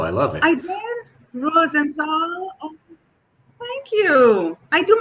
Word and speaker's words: Rosenthal: Rosenthal. Did I pronounce that correct? You Thank pronounced it you. wonderfully. I love it too. The purple, I love it. I did. Rosenthal.